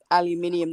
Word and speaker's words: aluminium: Aluminium is aluminium the way it's spelt, that how we spell it, and the Americanized version is without the eye.